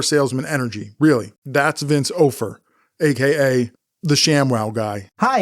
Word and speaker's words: Offer: Vince Ofer. I think that's how it's pronounced, because otherwise it's Offer, and Offer would be an incredibly, ironic name to have for somebody who's a pitchman.